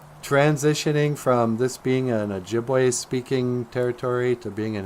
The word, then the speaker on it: Ojibwe: never mind how uh Dennis Banks wants to spell it Ojibwe is o j i b w e and